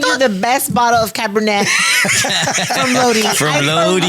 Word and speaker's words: Cabernet: Cabernet.